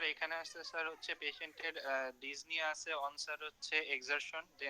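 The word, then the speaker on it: dyspnea: ডিসপনিয়া, আপনার tachycardia, তো আচ্ছা, ডিজনিয়া আপনারা না এই উচ্চারণটা sorry this is ডিজনিয়া, this ডিজনিয়া আপনারা সাউথ ইন্ডিয়ান উচ্চারণ থেকে বেরোন, হ্যাঁ, this is ডিজনিয়া, okay, P should not বি আটার্ড।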